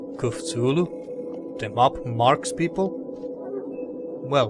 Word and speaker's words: Cthulhu: - Lew cooked Zulu so that's how they pronounce catullo here kuphulu they mop marks people